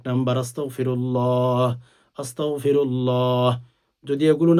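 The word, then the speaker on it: أستغفر الله: আল্লাহ পাক রব্বুল আলামিন বলেন, যে বান্দা ইস্তিগফার পাঠ করো, ইস্তিগফার আরবিতে পড়লে আরবিতে পড়বেন আস্তাগফিরুল্লাহ, আস্তাগফিরুল্লাহ। আস্তাক বলবেন না, কাফ দিয়ে অনেক উচ্চারণ করেন, এটা ভুল।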